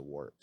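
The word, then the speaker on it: Waaagh: cast adrift in the warp oh no so this is the first time we've brought up an orc even though it's spelled wag it's actually the cockney pronunciation of war yes it's got a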